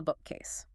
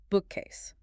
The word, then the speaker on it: bookcase: The stress in the compound word bookcase falls heavily on the first syllable. Bookcase. If a learner stresses the second syllable like bookcase, it sounds completely unnatural to a native ear, even if the grammar